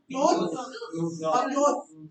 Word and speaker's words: clothes: Next we have clothes. Clothes. It's Z sound.